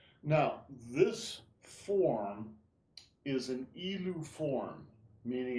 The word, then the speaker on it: Yilu: because there's like the forms have names like Yulu and Erlu. Is that the difference between like doing it the slow, soft versus more martial? Yes, basically, yes. Okay. So ilu forms, it's pronounced ilu, Mhm.